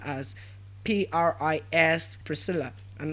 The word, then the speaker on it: Priscilla: It's pronounced as what? Sharon. Now we also looked at another name as Pris, Priscilla, and not Priscilla. It is not Priscilla, but what? Priscilla.